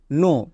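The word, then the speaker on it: know: ভুল করি silent letter যেমন দেখো কে এন ও ডব্লিউ নো এখানে কে silent next D ও ইউ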